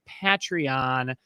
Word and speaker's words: Patreon: just a reminder that we are on patreon that's how you say it folks patreon thank you to all